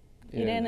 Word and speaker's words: iRene: How do you pronounce it? I just say Irene CSGO.